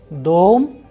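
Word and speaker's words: дом: da it's on ah dom the stress is on o dome in the word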